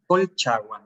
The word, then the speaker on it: Colchagua: And so the winery itself is located in Casablanca, but you also have vineyards in, and I'm going to pronounce it wrong, Colchagua? Colchagua, yes.